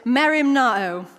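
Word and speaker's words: μεριμνάω: You pronounce it mεριμνάω.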